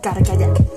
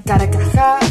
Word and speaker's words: Carcajack: Entonces, es un nombre demasiado largo, incluso hay algunas personas que no lo pronunciaban bien, decían Carcajá, o no me gustaba mucho.